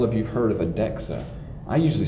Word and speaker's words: DEXA: and probably all of you've heard of a dexa I usually spell it D EXA they spelled it dxa we pronounce it dexa